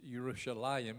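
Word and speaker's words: ירושלים: yeah sound a y Jerusalem is not Jerusalem Rodney pronounced yeah that the name is yerushalayim it's a why yeah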